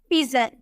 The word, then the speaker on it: pigeon: लेकिन अगर हमें बोलना हो PIGEON, जी के बाद आपको ई नजर आ रहा है तो इसे हम बोलेंगे पिजन, जौ में प्रोनाउंस करेंगे, पिजन बोलेंगे।